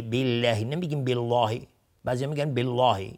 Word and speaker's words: بالله: اونجا میگفتیم فکفا بالله، بالله نمیگیم بالله، بعضی میگن بالله، این اشتباه است. نمیگیم وکفا بالله چون اینجا قبلش کسره اومده، حتما باید نازک تلفظ به لفظ جلاله.